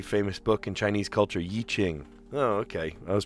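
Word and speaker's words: I Ching: Yichching. Oh, okay. I was pronouncing it wrong. Yichching.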